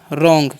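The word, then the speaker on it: wrong: ओ एन जी है तो इसे हम पढ़ेंगे रॉन्ग क्या पढ़ते हैं रॉन्ग ठीक है पी डबल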